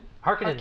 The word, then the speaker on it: Harkonnen: How do you pronounce it? Harkonnen.